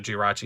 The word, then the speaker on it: Jirachi: And then, you know, Kyogre, Groudon, Rayquaza, Jirachi, and Celebi. Yes, that's how you pronounce all of them.